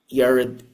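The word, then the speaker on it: Jared: Donald Trump is Zioni Yared Kushner. I pronounce it Yared cuz that's the original Hebrew pronunciation of the silent J.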